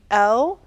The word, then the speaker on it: Elle: go to my site it's my name L and that's like the magazine L um or uh and